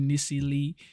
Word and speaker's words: Niecy Lee: So if you want to go on live stream with Niecy Lee, go check her out. She said that's the way it's actually pronounced. Niecy Lee.